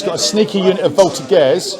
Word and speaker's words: voltigeurs: He's got a sneaky unit of voltigeurs.